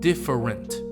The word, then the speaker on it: different: Take the word different. It actually has three different vowel sounds. If we pronounce all of them, it will sound like different. However, a more natural way to pronounce this word is different. The first e is actually not pronounced.